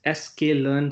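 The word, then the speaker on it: scikit-learn: one is psychic learn psychic learn this is pronounced as SK learn something else python Library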